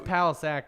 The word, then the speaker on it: Palachuk: Again, Palachuk. What do we need to check out? It's Palisac if you want to say I've it.